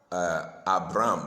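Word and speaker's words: אברם: You know, we normally pronounce it Abraham or Abram, but the Hebrew way of pronouncing it is Avram and Avraham.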